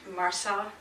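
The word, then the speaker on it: MRSA: You spell it M-R-S-A, Marsar, I guess it's called.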